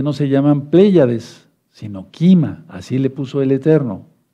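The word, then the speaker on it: כימה: pleyades ponle primero pléyades en hebreo se dice kima k&m a kima sí kima ya le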